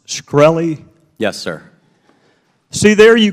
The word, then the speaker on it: Shkreli: Is it pronounced Shkreli?